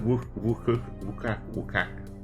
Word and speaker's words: Oaxaca: It's pronounced Wukuka.